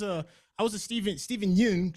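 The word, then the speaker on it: Steven Yeun: I was a Stephen Stephen Yoon Stephen Yoon I think that's how his name is pronounced but I was saying it wrong uh last time I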